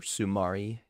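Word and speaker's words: Soumaré: Or Sumari. That's how you say it.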